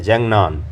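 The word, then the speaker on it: 藏南: अरुणाचल नहीं बोलता है वो जंग नाम बोलता है जंग नान जंग नान इसको प्रोनाउंस करता है और बोलता है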